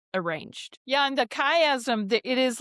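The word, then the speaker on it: chiasm: Chastic. It's it's symmetrical arrangements in sections. That's a that's a kayazm. Kayastic.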